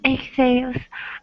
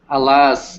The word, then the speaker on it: alas: No, not exhales. Alice. Alas. Alas, Alas, interjection. alas. It's an interjection, but like, alas, it's Careful, your English is yeah, awesome. Alas, yeah. So alas is the pronunciation, and it's like, oh my goodness, for shame.